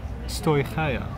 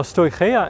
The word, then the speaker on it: Stoicheia: strahia and the photo with my high school greek i would say this is pronounced stoichaea yes i was wrong now stoichia and klosmata are both